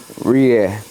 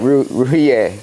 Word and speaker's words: rouille: Roulier. Say it. Roulier. How do you spell it?